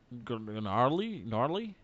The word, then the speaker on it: gnarly: The only thing I gotta do is do gnarly Oh, gnarly. Mm-hmm. Mm-hmm. gnarly run. I gotta do that. And that's about it. The Um, G is silent.